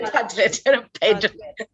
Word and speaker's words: Padlet: How can we pronounce it? Paddle. Padlet. Okay, Padlet.